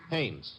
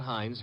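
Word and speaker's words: Haines: Hannes.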